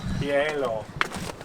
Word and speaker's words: hielo: Hielo. The H is silent, but it's like 2 vowel sounds at the beginning. Hielo.